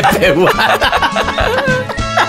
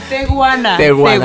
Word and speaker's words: Tehuana: De tepehuana. Tepehuana. No, no. ¿Cómo dijo? Ver, yo dije tepehuana. Ahí está, ya cantó esta A ver, cosa. ¿Cómo se dice, Jacibe? Tehuana.